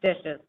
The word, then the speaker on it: DHSES: to the acronym dishes or dhses pronounced dishes um this presentation should